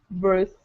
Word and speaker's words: breath: with this sound and this word here is breathe with this sound breathe is the verb and breath is the noun so